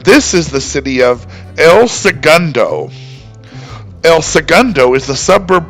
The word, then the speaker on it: El Segundo: So perhaps that's why they settled on the less Spanish pronunciation, El Segundo.